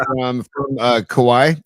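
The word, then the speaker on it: Kauaʻi: It says the Msubi truck and it's from from uh Kauaii. It's right on the island of Kauaii, my favorite Hawaiian island. Uh or Kauaii, I should be I should do the correct pronunciation.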